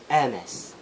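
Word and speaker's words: Hermès: young cunny lung age so it should be a mess yes it should be a mess so that's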